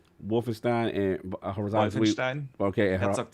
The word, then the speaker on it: Wolfenstein: He'll pronounce Wolfenstein and Horizon. Wolfenstein.